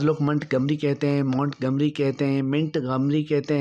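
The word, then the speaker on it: Montgomery: میں اضافہ ہوگا کہ اس لفظ کا درست تلفظ مونٹ گمری ہے.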